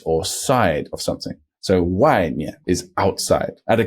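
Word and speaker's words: 外: e y of course this will be spelled w a i that's right why when it's by itself outside is why with a fourth tone he is outside why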